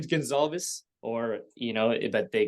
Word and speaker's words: Gonsalves: G but uh my last name is Gonzalez or you know that they got mistaken with